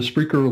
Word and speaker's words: Spreaker: that Rob Greenlee comm and I do the Spreaker live show it's Freaker live show calm and that's spelled with an r Spreaker Spreaker live show